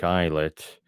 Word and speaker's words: islet: natives met the things on the little volcanic eyet going going there in canoes with the sacrifices